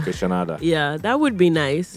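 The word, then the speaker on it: Kaytranada: Is that what how's his name pronounced? Kitranada. Kitranada.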